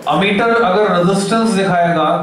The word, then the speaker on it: ammeter: have 0 resistance, अच्छा कुछ बच्चे गलत प्रोनाउंस करते, बोलते हैं अमीमीटर, तो गलत प्रोनाउंसिएशन नहीं करना है हमको, अमीमीटर कुछ भी नहीं होता, यह है अमीटर।